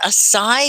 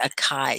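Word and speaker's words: açaí: um you call it a sai because we've been calling it a chi so this the c is pronounced like s right a a sai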